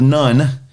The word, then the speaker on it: Nun: this is the story josh was the the son of none and that's not n-o-n-e that's in-u-n and no it's not a nun like sound of music none that's although it's spelled like that it's actually a guy's name none said two men secretly